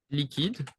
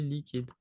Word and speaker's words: liquide: Be careful, we have the kind of the return of the QU, le QU, which isn't pronounced as Q, it's just like the sound K. Here you would say like liquide, ok?